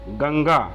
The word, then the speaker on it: गंगा: जैसे आप उदाहरण में देखिए, यदि अनुस्वार के बाद यदि क वर्ग का व्यंजन आता है तो अनुस्वार का उच्चारण अंगा होता है। जैसे देखिए अनुस्वार दिया है, फिर क, ख, ग, घ, सबका उच्चारण क्या होगा? इसके पंचमाक्षर के समान होगा। जैसे शब्द एक दिया हुआ है गंगा, गंगा, गंगा, ये देखिए पंचमाक्षर आ गया।